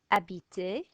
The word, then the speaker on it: habiter: Silent H, H is always silent. Habiter, this one.